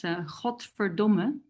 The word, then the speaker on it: godverdomme: Well, yeah, God damn it is a really good one, because that's godverdomme.